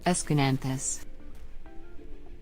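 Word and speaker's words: Aeschynanthus: Escananthus.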